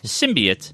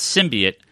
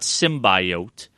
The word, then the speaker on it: symbiote: the internet went what the what like its Simbi it that's how they've always pronounced it that's how it is pronounced its sim be it not symbiote and they they ATR the entire movie and